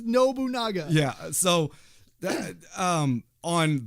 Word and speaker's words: Nobunaga: no but Nagas yeah which is not pronounced no bunga's it is nobunaga yeah so dad um